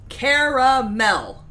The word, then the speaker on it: caramel: There is an A between the R and the M. It's a little hill. You pronounce it caramel.